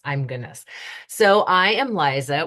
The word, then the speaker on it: Liza: goodness so I am Liza with a z and it's actually pronounced like Manelli Liza Manelli there's a fun